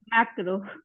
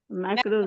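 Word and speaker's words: macro: माइक्रो पहला हो गया, माइक्रो दूसरा क्या होगा? मैक्रो। माइक्रो। मैक्रो। मैक्रो। मैक्रो। मैक्रो में थोड़ा मुंह चढ़ा, मैक्रो। माइक्रो। माइक्रो सूक्ष्म। मैक्रो विस्तार।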